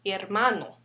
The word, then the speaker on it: hermano: Another example will be hermano. And once again, it ends with the O, which is a vowel. And the second to the last syllable would be, again, here. That's why we say hermano.